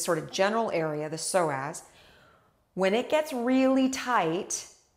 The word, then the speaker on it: psoas: you learn about your soaz and soaz is spelled PS O A all right so I'm